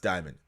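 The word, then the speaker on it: daemon: it's not d-i-e sorry it's d-a-e-m-o-n and it's pronounced diamond in castro's mind the diamond appears to be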